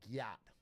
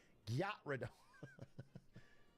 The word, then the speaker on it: Gyarados: I introduced my 6-year-old Gen Alpha nephew to Pokemon, and he pronounced Gyarados like Gyat. Gyarados. How would you even say it? Gyarados.